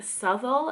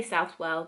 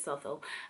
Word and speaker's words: Southall: It's in Southall, I think you say it. I used to say Southwell, but I feel like everyone around here says Southall, but it's spelled Southwell.